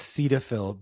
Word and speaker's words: Cetaphil: Is it cetaphil or is it cedophil? So, I think it's cedaphil because it's the origin of the names the name is from cedal alcohol and fill, right?